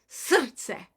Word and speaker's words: srce: and the C sounds kind of like TS. So it's srce. Try that. Do the best you can with it. You can also just go Srce if you want. Srce, but that's the correct pronunciation.